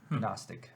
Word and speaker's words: Gnostic: Gnostic players look at it's not stick agnostic Gnostic Oh with G yeah silent G he said before September